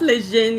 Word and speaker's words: Lejeune: Oh, Lejeune, yeah.